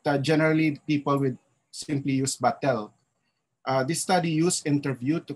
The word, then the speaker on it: batel: please take note that sometimes it's pronounced as batil we done with an eye you know so it's but generally people would simply use battle this study used interview